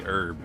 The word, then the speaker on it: herb: alnum aluminum ah i say herb i do the silent ages there are regional dialects